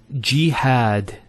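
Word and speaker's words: جهاد: followed by the alif next word is jihad so we have here g that's the first syllable and then had jihad so you notice here we have a fetha on the ha followed by the alif and that gives the elongation of the a sound next word ibrahim so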